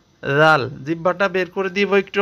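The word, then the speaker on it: ذال: উত্তর হচ্ছে, জাল অক্ষর জিহ্বার আগা থেকে নরম করে পড়তে হয়। জাল, জিহ্বাটা বের করে দিব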